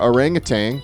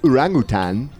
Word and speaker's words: orangutan: i know pretty cool she's there with our orangutan actually it's pronounced urangutan she told me what this was for and